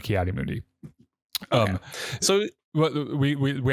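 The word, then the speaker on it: Ki-Adi-Mundi: he's in the credits it's kot moodi okay no that that is 100% confirmed kot moodi um so well we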